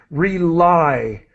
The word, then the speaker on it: rely: Rely. That Reliably.